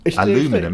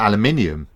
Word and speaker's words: aluminum: Their word doesn't have an I in it. It's aluminum. It's not aluminium.